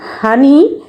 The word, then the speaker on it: honey: তো আমরা দেখতেই পাচ্ছি, আমরা উচ্চারণ করছি হানি, কিন্তু এটা ওয়ার্ডটা স্পেলিংটা তোমরা খুব সহজে পারবে না।